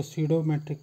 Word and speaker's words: pseudometric: सीडोमेट्रिक या quasi मेट्रिक, ध्यान रखिए इसको सीडोमेट्रिक पढ़ा जाता है, पी साइलेंट होता है इसमें, सीडोमेट्रिक और क्वासी मेट्रिक।